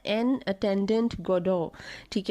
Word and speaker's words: Godot: आज का टॉपिक है वेटिंग फॉर गोडॉट। अच्छा, ये गोडॉट स्पेलिंग में है लेकिन इसे गोडॉ कहते हैं।